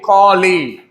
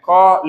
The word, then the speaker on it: colleague: You know like the word league like football league. Colleague. Okay. You say it like that. College league. So college. No no no no no. That's important. Don't get confused. Colleague and college.